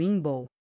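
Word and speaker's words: Imbolc: Inboke pronunciado Inball, caindo por volta de primeiro de fevereiro, marcou essa transição.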